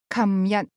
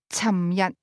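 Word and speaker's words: 琴日: The term "yesterday", for example, is pronounced kam yat in Hong Kong, beginning with a "k" sound. However, a speaker from Guangzhou is more likely to say cham yat.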